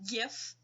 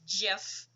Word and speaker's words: GIF: will see the little GIF, or GIF, I don't like that pronunciation, I use GIF. I know GIF's the official, but GIF, come on, makes more sense.